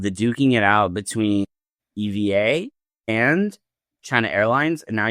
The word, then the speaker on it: EVA: Like like the the Starlux founder was originally at EBA air or EVA, sorry, is I believe the correct pronunciation.